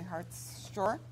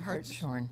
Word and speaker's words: Hartshorne: We're going to be talking right now with Peter Jones and with Hartshorne. How do you pronounce it? Hartshorne. Hartshorne. I got it right.